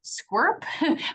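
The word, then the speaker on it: SCCWRP: Water Research Project Authority, or as we affectionately call them, SQURP, which is how you say that acronym. Um, since the bills in California were passed, Squirtp has convened several workshops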